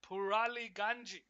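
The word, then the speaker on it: Pouraliganji: on this left-hand side purely janji purely ganji that's how you say his name the center back for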